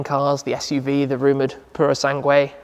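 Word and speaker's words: Purosangue: the suv the rumored purosangway that's how you pronounce it by the way i think purosangway it's not purosang anyway that's fuv ferrari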